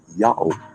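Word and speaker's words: Yahu: the slightest hesitation said this word is to be pronounced Yahoo I can read Yahoo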